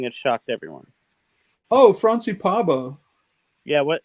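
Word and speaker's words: Pääbo: Oh, Franci Parbo. Yeah, how do you spell that?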